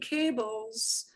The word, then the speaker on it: cable: We all need cables. We all need cables to connect our phones and charge our stuff up, right? So, cable. Cable. Cable. You need to pronounce the E at the end.